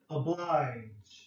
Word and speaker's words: oblige: Oblige. Okay, make sure you have a soft G here, okay?